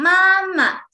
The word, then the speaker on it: 妈妈: Then the second one is 妈 Neutral tone, pronounced very soft.And weak, pronounced soft and short and weakly.